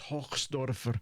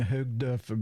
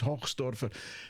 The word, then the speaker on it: Hochsdorfer: Now, I'll try and I had pronounced his name wrong in the original videos, but it's Hochsdorfer. I kept saying Hoogdorfer, but it's Hochsdorfer, and so we went